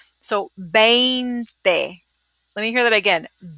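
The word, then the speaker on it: veinte: It's not venti. It's not like a venti, frappuccino from Starbucks. In Italian, yeah, it's 20 ounces, right? So venti is venti in Italian, which is where it comes from. But we don't say venti. We say 20 in Spanish.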